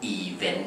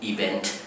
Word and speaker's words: event: ซึ่ง บาง ที เนี่ย ผม เคย ได้ ยิน คน ไทย หลาย ๆ คน ชอบ ออก เสียง อาจ จะ เพี้ยน ไป หน่อย นะ ฮะ กลาย กัน ออก เสียง ว่า even even ซึ่ง ไม่ ใช่ even นะ ฮะ นั่น even